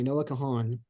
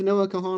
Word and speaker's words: Noah Kahan: title dial drunk by Noah Kahan and that would be Noah like Noah's Ark and Kahan is spelled k-a-h-a-n um he's sort of